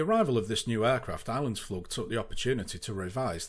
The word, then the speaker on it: Islandsflug: Even now, 16 years later, I can't remember if it's pronounced Islandsflug or Islandsflug. The most common mispronunciations I heard back then was Islandsflug, Islandsflug and Icelandsflug.